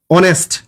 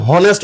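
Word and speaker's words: honest: এন ই এস টি অনেস্ট আচ্ছা আমরা কি কোনদিন হনেস্ট উচ্চারণ করি না অনেস্ট অনেস্ট অর্থাৎ ও এর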